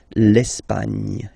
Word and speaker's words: l'Espagne: Okay, don't insist on the final E because basically it's not pronounced. L'Espagne.